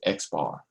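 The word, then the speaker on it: x̄: bar on top and how do we read this we actually read this as x bar right x bar that's how we read this so how do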